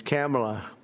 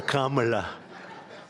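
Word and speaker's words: Kamla: that we have, but fortunately it's pronounced different. It's Kamala, as opposed to Kamala.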